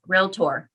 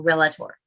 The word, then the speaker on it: Realtor: so it's two symbols real tour realtor not realtor or relator realtor so please learn how to pronounce your profession correctly realtor should always be